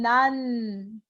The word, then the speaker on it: 낮: Donc, quand je prononce lentement, c'est 낮 12시. Mais quand on prononce vite, 낮 12시. 낮 12시. On prononce comme nan. C'est l'assimilation des consonnes.